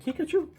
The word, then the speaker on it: Kikuchi: And then you got a Yusei Kikuchi. Sounds like Pikachu, but Kikuchi.